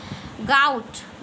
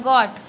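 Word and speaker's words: gout: गाउट या गॉट अपना pronunciation है, यहाँ पे मैं इंग्लिश समझाने तो नहीं बैठी हूँ। गॉट पढ़ो, गाउट पढ़ो, एज योर विश।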